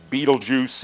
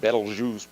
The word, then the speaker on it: Betelgeuse: Betelgeuse is how it's usually mispronounced. Betelgeuse, probably a bit better.